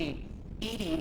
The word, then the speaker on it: EDI: are you named Ed Ed is the phonetic pronunciation of Eed that is an acronym